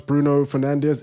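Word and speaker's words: Bruno Fernandes: Uh, regulated screen says, "What's the correct way to pronounce Bruno Fernandez?" It is. It is. I think it's like Bruno Fernande like but imagine a Portuguese accent.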